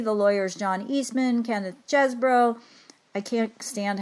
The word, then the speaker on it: Chesebro: So she said the pronunciation is Chesebro.